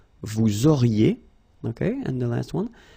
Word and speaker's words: vous auriez: Vous auriez, liaison here, and then EZ will go like E. Vous auriez, okay, and the last one.